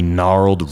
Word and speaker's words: gnarled: Now there were only gnarled roots and dead stumps of trees. Gnarled, G-N-A-R-L-E-D. The G is silent.